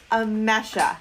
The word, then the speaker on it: Emese: It is Emese.